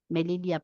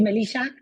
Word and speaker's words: Melilla: Melilla, ¿está bien pronunciado? Sí, sí, está perfecto. Creía que ibas a decir Melissa, No, pero no, no, te salía como Melilla, argentina Melilla.